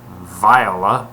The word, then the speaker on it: Viola: but I decided that rather than being pronounced Viola as it's surely supposed to be pronounced I will pronounce it theola because I am a